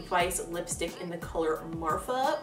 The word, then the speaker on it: Marfa: lipstick in the colour Marfa which sounds like you're pronouncing 'martha wrong but it's not it's like after the town Marfa Texas because route 66 and